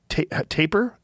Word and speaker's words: tapir: And those same words were also used for leopards, tapir, how do you say it? Tapir?